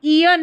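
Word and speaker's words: aeon: तो देखिए ईन, यहाँ पर ईयन है, ठीक है, ईन नहीं है, ईयन है, यहाँ पर उच्चारण दे रखा है ईयन, ईयन, अन है ना, ON है इसलिए अन। तो ईयन हो गया।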